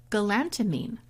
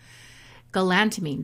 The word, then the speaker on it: galantamine: is a little supplement that I take called galantamine. Galantamine, G-A-L-A-N-T-A-M-I-N-E. Sound it out. Galantamine. That's how you spell it.